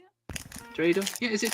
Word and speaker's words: dreidel: Oh yeah, the droidal. Yeah, it's like, come on. Is this not a droid? I mean, is that not how you say it? Dreidel.